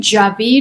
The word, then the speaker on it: Djavid: And the last name Jabid is fairly common and it's specifically spelled how you would phonetically spell it.